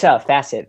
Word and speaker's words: Facet: Is it Facet? Faucet? How do you say it? It's Facet. Okay, it's Facet.